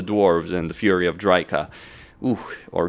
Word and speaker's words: Drycha: Though, you may want to rush to save Azhag from the fury of the dwarves and the fury of Drycha. Ooh, or Drycha as she's pronounced.